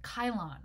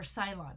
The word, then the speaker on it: Cylon: from the Areopagus named Kyle on or Cylon if you prefer to pronounce it with a C Kyle on was a